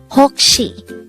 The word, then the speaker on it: 혹시: daihango word number 135 hokshi this is pronounced as a two-syllable word the first syllable is hok the second syllable is she pronounce it with me